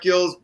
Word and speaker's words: Gill: Pronounce the name again. G-I-L-L. Let me. First name? David Gill, I think. Apparently. Oh, Gill.